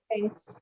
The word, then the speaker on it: parents: So this is the exact correct pronunciation. Okay. When you're talking in the flow, sometimes you say parents. So don't do that. It is parents.